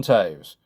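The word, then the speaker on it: Toews: so we'll move on Jonathan Taves I'm not joking that's how it's pronounced if you don't know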